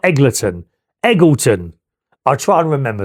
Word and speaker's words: Eggleton: Unless I've been saying it wrong, it's Eggle. Oh, it's Eggle. As in Wiggleton. Eggleton, not Eggleton.